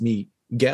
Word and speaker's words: Miguel: and he goes oh it's not Mike it's me G like it's he's like